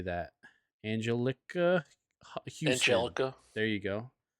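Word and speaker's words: Anjelica Huston: Angelica Houston. Angelica. There you go. Angelica Houston.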